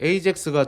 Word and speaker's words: AJAX: agx라는 기술이 등장하기 전에 ajax예요 ajax고 저는 이제 ax라고 읽습니다네 에이젝스가 등장하기 전까지는 서버에서 데이터를 가져오려면 항상 전체 페이지를